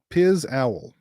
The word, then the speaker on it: Pizowell: Pizowell is how it's pronounced, Mr.